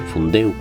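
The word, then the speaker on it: Fundéu: fundación del español urgente se escribe fundeu con tilde en la última sílaba deu porque es una palabra aguda que termina en vocal por otro lado cuando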